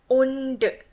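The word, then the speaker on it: ஒன்று: 1 means in Tamil, ondu. Ondu, right? Ondu. You really have to pronounce the D part.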